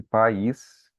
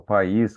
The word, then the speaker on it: país: Nós temos uma separação ali da sílaba, né? E quando você fala pais, os seus pais, você vai ficar na mesma sílaba. Então, país, ele vai separar o A do I. Então, vai ser um hiato.